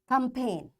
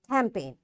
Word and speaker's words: campaign: because the rule is when you find n after G you will not say this G and directly you pronounce